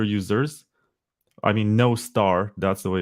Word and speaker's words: Nostr: forgot it yeah makes sense it's popular among Noster users I mean no star that's the way it's actually pronounced and I think the other popular one